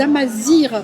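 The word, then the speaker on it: Amazigh: Donc l'équipage il s'appelle les Amazirs parce que le Alors. GH ça se prononce Amazir, enfin R en marocain, je vais faire ça.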